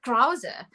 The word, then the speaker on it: Krause: We pronounce it Krause, which is an Afrikaans surname.